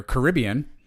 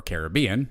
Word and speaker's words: Caribbean: don't know well do you can pronounce as one or two ways I don't know which one you want to use it's either Caribbean or Caribbean however you want to say it but that is the